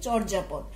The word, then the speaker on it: চর্যাপদ: চর্যাপদ উচ্চারণ করতে গিয়ে শুরুতেই চয়ের সাথে একটা অ আছে, অ আছে বলে এটার উচ্চারণ চ ওকার মতো হবে, চোর বর্গীয় জ আকার যা চোর যা প দ চর্যাপদ।